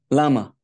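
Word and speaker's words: למה: How do you say why in Hebrew? Lama.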